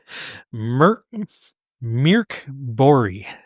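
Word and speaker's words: Mörk Borg: Actually, Mirk Bori is how it's pronounced.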